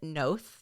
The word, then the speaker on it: Noth: Um, we know more recently that Chris, is it Nath? That's how it's pronounced. Chris Nath aka Mr.